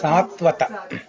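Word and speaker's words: Sātvata: leader of the devotees, Satvata. Satvata. Satvata. When you see a line on the top of an alphabet, you have to stretch. It's a guru, long vowel. I mean long syllable.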